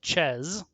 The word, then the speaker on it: Chez: chez house of chairs there was some debate among some casters on which is the correct way to say it and i vacillated but i confirmed with the team it is in fact house of chess and we have peels